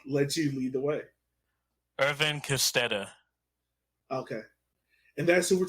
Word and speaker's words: Edwin Kostedde: Edwin Kostedde.